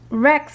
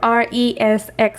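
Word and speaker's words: resx: spreadsheets we also find Rex files well we can pronounce it like this or re SX files this is the file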